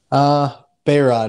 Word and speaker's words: Beyrodt: Beyrodt is how we pronounce it. Beyrodt.